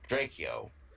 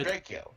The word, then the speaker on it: Drakeo: Drakeo. Okay. Drakeo? No, Draco. it's pronounced Draco, but it's spelled like it would be pronounced Drakeo.